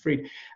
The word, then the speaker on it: Fried: I think it's spelt Fried, but I think it's spelled pronounced Fried.